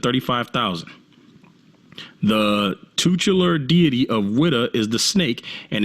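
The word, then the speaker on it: Ouidah: It said that they called it Judah or a Judah because the Portuguese couldn't pronounce Wida.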